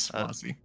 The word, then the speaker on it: Xwazi: It's very strangely spelled. It's Xwazi is how you say it. It's Swazi.